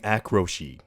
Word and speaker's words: Akroshi: It's pronouncing his name Akroshi, by the way.